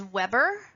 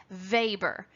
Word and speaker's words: Weber: the last name is weber but it is actually pronounced in its german origin weber as if spelled v-a-b-e-r so from here on